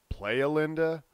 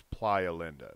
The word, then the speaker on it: Playa Linda: of a lot of locals incorrectly pronounce it Playa Linda but Playa is the Spanish word for beach so I have to assume that it's Playa Linda but anyway there are